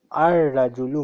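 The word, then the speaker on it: الرجل: Lam is silent, so join Alif with Ra. I'm sorry. Aj. No, wait a minute. Ar Rajulu.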